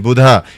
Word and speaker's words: Buddha: So uh I just told them it's no it's the right pronunciation Buddha. It's not buddha.